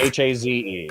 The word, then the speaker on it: Haze: I came to the conclusion that however you like to pronounce it is the best way to pronounce it. So if you like Hayes more, perfect. then it's Hayes. If you like Hazeh more, it's Hazeh.